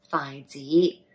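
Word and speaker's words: 筷子: And chopsticks in Cantonese is pronounced as Phi, Phi Z.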